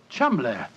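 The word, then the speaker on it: Cholmondeley: that the name Cham is in no way pronounced the way it is spelled but Jo I never thought of that Cham that name spelled c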